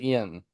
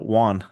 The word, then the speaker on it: yuan: I think you pronounce it yen. No, yuan.